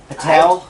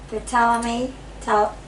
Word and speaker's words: Ptolemy: Patel? I don't know. Ptolemy. Is it the P silent? Ptolemy. Ptolemy. Yeah, like the The pink ninth. pterodactyl. Go That Richard. joke. co-regent when her husband, Ptolemy the Eighth, died.